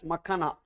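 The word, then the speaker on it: makhana: would have seen makana it should be pronounced as makana makana This one macana.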